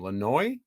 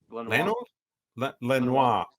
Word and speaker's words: Lanois: Lanois. Lanois. I never can remember how to say his name. French, not Spanish. Okay. Yeah, Lanois, who said it's the CD era, put their best songs in the front.